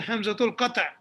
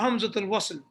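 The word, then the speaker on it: همزة القطع: the hamsa on top this is called the hamza tulkata not hamzutil this one you pronounce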